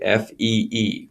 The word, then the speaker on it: phi: to use after is the Greek letter Fe which is spelled Phi but you actually say it the correct way Fe Fe so those are two